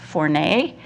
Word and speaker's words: Fournet: if anybody knows but my last name is actually a French word and it's actually pronounced fournet but here in the United States it's so you know you're